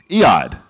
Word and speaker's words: Eyad: Eyad.